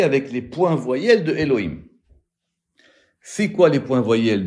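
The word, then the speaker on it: אֱלֹהִים: C'est-à-dire, c'est Sheva Segol, qu'on met sous le Yud, un Cholem sur le He, et un Chirek sous le Vav. Ce qui fait que quoi? Ce qui fait qu'on le prononce Elohim.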